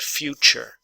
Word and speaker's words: future: U almost always has a y sound in front of it so the T and the Y together actually make a CH sound future future okay get together